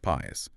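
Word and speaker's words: PaaS: Easiest for you but least control right then there's platform as a service or pas pronounced pas here the vendor provides the platform operating system runtime environments databases middleware.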